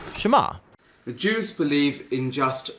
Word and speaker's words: Shema: is hear or listen which in hebrew is pronounced Shema the jews believe in just one God and